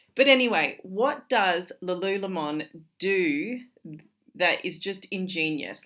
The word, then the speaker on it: Lululemon: and lul LOM now I know a lot of people in Australia call it Lululemon uh it was actually originated in Vancouver in Canada and from what they say over there and how they pronounce it it's lulon so if you didn't know